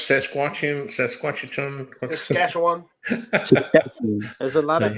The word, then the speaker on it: Saskatchewan: How did you pronounce Saskatchewan?